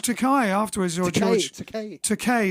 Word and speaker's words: Takei: Takei is actually how pronounced, but I say Takai because they won't know who I'm talking about.